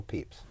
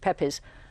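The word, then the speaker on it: Pepys: uh who was Samuel peeps Samuel Peeps and it's spelled PE p y yes and some of his um the descendants of his family he he had no direct descendence call it Pepes but we know it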